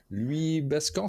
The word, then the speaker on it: Louis Bascan: Louis Bascan, c'est comme ça que ça se prononce?